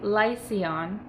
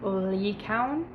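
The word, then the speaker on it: Lycaon: arcadia in greek mythology lycion or it's actually pronounced lee coun was the king of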